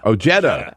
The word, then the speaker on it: Ojeda: Is that pronounce his name, Peter? Ojeda.